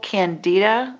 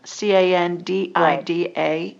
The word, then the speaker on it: candida: know to treat it but if you google candida c-a-n-d-i-d-a candida yeast overgrowth you'll get lots of information